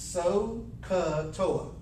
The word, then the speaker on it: SOHCAHTOA: use your trigonometric ratios okay this is we pronounce this SOA okay it's almost like speaking a Native American